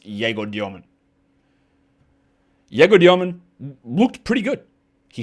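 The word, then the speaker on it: Egor Demin: His name is Den Deman. It's easy. I'm calling him Jgo Dyman because his name is pronounced Jgo Dyman.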